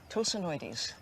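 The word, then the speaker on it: Tosanoides: How do I pronounce the first part of it? Oh, that's easy. Tosonoides.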